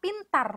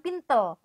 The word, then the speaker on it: pintar: Karena kita pelafalannya itu konsisten dengan itu-itu saja, dan orang-orang lain juga mengatakan pintar, bukan pintel, bukan pintel gitu.